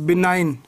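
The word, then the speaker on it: benign: एन आई जी एन बिनाइन हां बीई एन आई जी एन बनान ठीक है बीना तो बीना में किसकी आवाज आ रही बेटा नाइन की आवाज आ रही है इसकी स्पेलिंग बेटा एक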